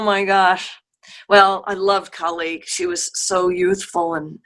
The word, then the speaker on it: Kali: Octavia, and Kali, or Kali, how do you spell it? How do you say Yeah, your name? Kali.